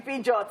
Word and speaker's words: Peugeot: Peugeot, you say Peugeot in Nigeria, Peugeot, it is Peugeot.